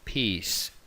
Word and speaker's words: peace: por ejemplo esta palabra, peace. No decimos peace, peace, significa paz. Entonces esa C se pronuncia como una S.